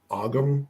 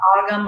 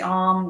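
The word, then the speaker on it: Ogham: Then towards the top and in the middle, we have what we call it's pronounced like the Ogum. It's like O-G-H-M. Ogum or the Om, yep.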